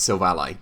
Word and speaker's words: Silvally: to be looking at silvally yes it's pronounced silva ally because it's your ally i will always remember